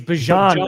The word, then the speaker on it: Bijan: Bajan. Sorry, I want to look up the clip. I wanted to get his name right. It's Bajan Robinson.